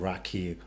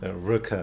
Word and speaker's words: rakı: Oh, I thought it's like Raki. No. Rakı. It's rakı. Rakı. Rakı. Rakı. Rakı. Okay, Yeah, it's like obviously I don't pronounce properly. so it's like saying like rocker, like a rock music fan, but then the R is not there.